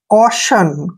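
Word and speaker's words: caution: clear next word देखिए सी ए यू टी आई ओ एन इसका उच्चारण देखिए हमने से करना है सी को हमने क्या पढ़ना है क ऐसे का पढ़ते हैं और देखिए यहां पर सी का उच्चारण क हो गया ए यू का उरण हो गया और टी आई ओ एन को हमने क्या पढ़ना है शन कशन क्या पढ़ेंगे कोशन यहां कोटिन नहीं पढ़ना है कोशन कोशन का मतलब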